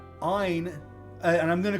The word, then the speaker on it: Ain: Ein, and I'm going to call him Ein and not Ain. If somebody pronounces this Ain, that's fine. Please bear with me in the video, but I'm going to be calling him Ein.